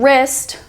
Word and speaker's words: wrist: and we also have the initial W as in wrist wrong wrinkle and wrap the W is silent in these please remember that this